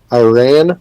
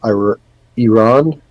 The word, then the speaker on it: Iran: Then we got Iran or Iran. If you want the right pronunciation, I believe it's pronounced Iran, not Iran, but the Football Federation Islamic Republic of Iran.